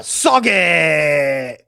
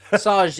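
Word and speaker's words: Sauget: Yeah, Sauge! So gay, dude. Sauge, all right?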